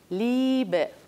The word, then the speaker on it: Liebe: La I es larga también cuando va seguida de E. Es decir, una IE equivale a una I, a una I larga. Por ejemplo, Liebe, amor.